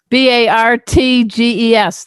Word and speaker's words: Bartges: Bartges. The T is silent.